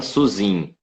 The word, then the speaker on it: Suzin: Como que eu pronuncio o seu sobrenome? Suzin. Pode falar só Suzin. Suzin. Todo mundo chama Suzin.